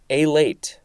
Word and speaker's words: alate: Next we have alate. This is the first form, A-L-A-T-E. The emphasis is slightly more on the first syllable.